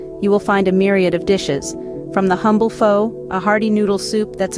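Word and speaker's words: phở: Pho, pronounced pho, is the heart and soul of Vietnamese cuisine, a dish that encapsulates the essence of the country's rich culinary tradition.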